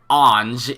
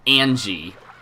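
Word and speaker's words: Ange: it's easy to pronounce I was told that Onge is supposed to be pronounced more like an G which I probably should have guessed that I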